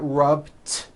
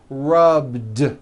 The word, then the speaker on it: rubbed: the end rub do it's not rubbed with an unvoiced t it's rubbed like that here's another example clean